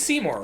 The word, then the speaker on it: Seymour: oh, it's Seymour? Like, is that how it's pronounced? No, it's Seymour, right?